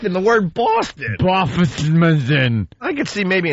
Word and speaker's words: Boston: Boffiston. He put an F in it. Put an F in Boston. What an F-hole. How do you put an F in the word Boston?